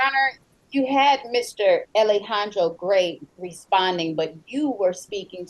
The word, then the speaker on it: Gray: Gray, just Gray, not G-R-A-Y-S.